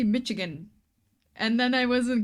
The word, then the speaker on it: Michigan: um as thing that it is not called Michigan but Michigan. I was pronouncing this Michigan with a ch forever was fun not too stressful.